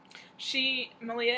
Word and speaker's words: Malia: Malia is Rhymes with Maria on Ravelry and Instagram, and she is an amazing teacher.